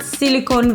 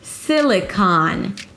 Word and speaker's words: Silicon: It's not "seeleecon vallee". 'Si-li-kaan' - primary stress on the first syllable si-li and then it's the /aa/ as in father. Although there's an O here, it's actually an ah - kaan.